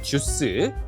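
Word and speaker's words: deuce: 2는 주스, 3은 트레이라고 발음을 하고 있어요.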